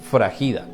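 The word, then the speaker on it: σφραγίδα: se escribe un poco diferente pero suena fragilidad se escribe sph r a g i d a fragida y esta palabra fragilidad Que traduce sello en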